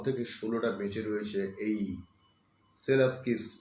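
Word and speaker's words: Przewalski: উচ্চারণটা হবে সেলাস্কিস, কিন্তু লেখা আছে PRZD দিয়ে, অর্থাৎ উচ্চারণটা জেড দিয়ে শুরু হচ্ছে, সেলাস্কিস। প্রথম পিআরটা বাদ চলে যাচ্ছে।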